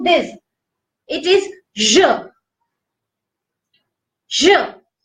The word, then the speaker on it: je: Whenever you are pronouncing this, it is je. Je. Whenever you are pronouncing this, it would be j'ai.